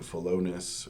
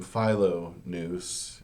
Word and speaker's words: Philonous: say such things but the point of using the name Pho noose is that Pho means love and noose means mind phon noose is a lover of the mind we might as well say it in such a way that you can hear that Association right um so we